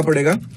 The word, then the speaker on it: PUD: और आपको लिखना है GPIO.PUD, that is pull up down, मतलब PUD मत पुड, यू कैन प्रोनाउंस इट पुड, पुड नीचे एक आपको अंडरस्कोर करना है, उसके बाद आपका डाउन आएगा, ठीक है।